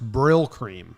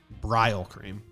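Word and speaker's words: Brylcreem: said in the chat it's pronounced brill cream not braille cream my bad what a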